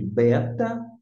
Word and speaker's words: beta: você até o a nós chamamos aqui de Beta já o b no moderno vai ter um som de v é vida mudou mudou